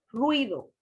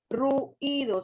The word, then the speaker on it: ruido: diptongo por ejemplo ruido la pronunciación se dice ruido ruido usted no dice ruth ido sino ruido bien por eso vuelvo